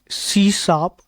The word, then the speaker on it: C#: हैं सी शप के सी शप प्रोनाउंसड सी शप इज मड इज अ